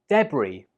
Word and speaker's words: debris: Debris. Debris. Or if you're from America, you pronounce it like debris. The important thing to note here is that the S is silent.